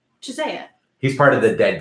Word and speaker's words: Chiesa: Anthony, Yeah, I he asked fucking- him how you was pronounce the dying. name, and he said Chisea.